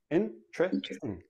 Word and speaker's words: interesting: But in everyday speech, interesting. Interesting. Interesting. I have four syllables. When I actually say it naturally, it becomes three syllables and the T and the R become like a CH, but that's, we'll talk about that next.